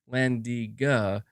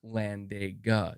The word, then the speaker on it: Landiga: You're saying, speaking of mispronunciation, Landiga is not Landega.